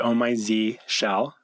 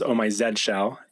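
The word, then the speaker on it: Oh My Zsh: in it these days i pronounce it oh my z shell or for our european friends or english friends oh my zed shell i've heard on my zeesh quite a bit so it's z shell because it's i think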